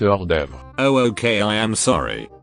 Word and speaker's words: hors d'oeuvre: So Jeffrey, here is your 1 bite horse tovias. It's pronounced 1 bit hors d'oeuvre.